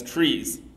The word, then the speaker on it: trie: tree already exists but originally the word tri came as a part of the word retrieval and so I believe the person who coined the term really wanted everybody to refer to these things as trees but for whatever reason that never really caught on okay so what